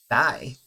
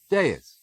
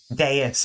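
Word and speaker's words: dais: How do I pronounce that? One moment. One moment. One moment. Deis. Deis. Oh my god, I got that completely wrong.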